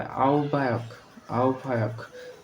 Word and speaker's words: আহ্বায়ক: উচ্চারণ হবে আহ্বায়ক।